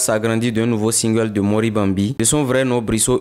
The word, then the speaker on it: Monribambi: Sinon, en fait, la prononciation, c'est en langue Bariba. Et ça veut dire Mori Bambi.